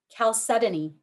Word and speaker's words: chalcedony: right thompson you're up next your word is chalcedony can you repeat the word please calcetta chalcedony am i pronouncing it correctly yes can you give me